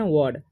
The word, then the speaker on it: word: इसे हम पढ़ते हैं वर्ड तो क्या होता है डब्लू से क्या होता है व और देखिए और आर से हो जाएगा ड तो इसे हम वर्ड पढ़ते हैं आर साइलेंट हो जाता है ठीक है तो